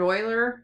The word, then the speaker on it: Euler: a little bit of background on that Leonard Euler it's it's pronounced Euler but it's e ule our he worked with